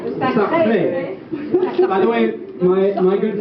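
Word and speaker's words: Sacre: May 29th, 1913, of the premiere of Les Sacs du Printemps. How did I do? Sacré.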